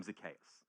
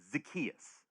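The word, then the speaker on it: Zacchaeus: I pronounce his name Zakayas. I've always done. A lot of people say Zakius. Those people seem to be Southerners.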